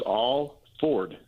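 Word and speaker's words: Alford: new Congressman coming on you're pronouncing his name wrong it's all Ford that's his name I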